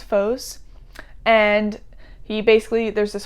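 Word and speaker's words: Phos: temple and they his his god is foes i think that's how you pronounce it p-h-o-s foes and he basically there's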